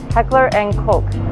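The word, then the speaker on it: Heckler & Koch: official one hey guys the proper name to say H&K is Heckler and Coke like a Coca-Cola so as you can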